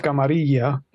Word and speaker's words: camarilla: It's pronounced camarilla, but yes.